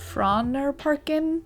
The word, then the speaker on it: Frognerparken: Geographically, I'll admit we did not plan this day very well, so we headed over to Frognerparken, which is how you pronounce it according to the Google search I just did.